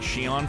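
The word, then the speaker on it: Xion: So Zion is female Sora. Roxas is Sora's nobody, and yes, it's pronounced like Shion from Arise.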